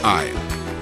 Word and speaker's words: aisle: is silent in cupboard the S is silent in aisle the D is silent